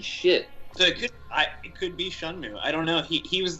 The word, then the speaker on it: Shenmue: Well, I'd say you're even more of a poser because it's actually pronounced Shunmu.